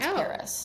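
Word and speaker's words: PVRIS: She spells it P V R I S, but it's pronounced Paris.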